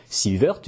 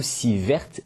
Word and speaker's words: sievert: s'écrit comme ceux ci de prononciation sont possibles s'il woerth du nom du physicien suédois qui on doit cette unité ou si verte qui est la prononciation francisé après un rapide sondage autour de moi je constate que les deux prononciation sont en usage mais si woerth a l'air préféré par les professionnels alors je vais utiliser cette prononciation dans mes vidéos le sievert c'est l'unité